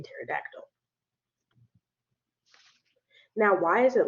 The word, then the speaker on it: pterodactyl: And then the empty letters don't sound like anything at all, like the K in me or the P in pterodactyl.